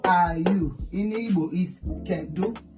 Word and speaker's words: kedu: In Igbo is kedu. It's a question mark. That is question mark. Kedu.